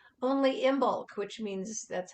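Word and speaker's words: Imbolc: is just full bloom even though it's only imbulk which means that's how you pronounce i-n-b-o-l-i-c this is the heart of Winter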